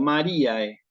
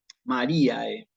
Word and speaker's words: Mariae: En la siguiente palabra también hay un diptongo AE y también lo voy a pronunciar tal cual como aparece escrito, Mariae, ¿sí? ¿Ok? Mariae.